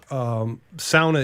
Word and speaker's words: sauna: So, sauna is a Finnish word. Yeah. And thus it's pronounced sauna because AU is always pronounced ow.